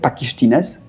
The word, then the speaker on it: Pakištynės: Wybaczcie, jeśli Litwini to słuchają, to niech wybaczą mi kaleczenie wymowy, ale wydaje mi się, że wymawia się to pakisztines.